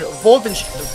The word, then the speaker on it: Wolfenstein: Wolfenstein or as they pronounced in German, Vulvin Wolfenstein.